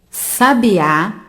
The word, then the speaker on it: sabiá: de sabia sábia sabiá sabiá apresenta a última sílaba tônica portanto nós chamamos o palavra oxi tona sabia e sabe apresentam